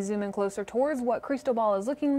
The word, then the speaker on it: Cristobal: play sports with and you put the most pronunciation on toes so it's gonna be creased dough ball so it's just for